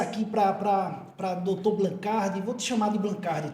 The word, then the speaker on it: Blancard: nome da realidade é blancar o D no final não é pronunciado é um nome francês e que se pronuncia dessa forma blancar e como meu pai